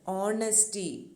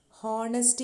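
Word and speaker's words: honesty: പക്ഷേ owner, ഓണസ്റ്റി, honourable ഇങ്ങനെയുള്ള വാക്കുകളുടെ എല്ലാം ആ എച്ച് നമ്മൾ പ്രനൗൺസ് ചെയ്യുന്നില്ല. ഹോണർ എന്നാണോ നമ്മൾ പറയുന്നത്? അല്ല. ഹോണസ്റ്റി എന്നാണോ പറയണ്ടേ? അല്ല. ഓണറബിൾ, ഓണസ്റ്റി, ഓണർ, ഓ സൗണ്ടാണ് അവിടെ ഉച്ചാരണത്തിൽ വരുന്നത് അല്ലേ.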